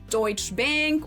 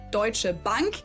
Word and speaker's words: Deutsche Bank: surprise to me, but Americans usually call it Deutsch Bank or Deutsche Bank or something like that. In German, it would be Deutsche Bank and it literally just translates to German bank.